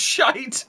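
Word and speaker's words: SHYTT: you can't suggest it uh shy TT pronounced shite that's it that's it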